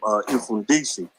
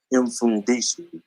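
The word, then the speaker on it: Mfundishi: Yeah, it's spelled funny. It's like MF. It's like M then fun. MFUN and then DISHI. Infundisi.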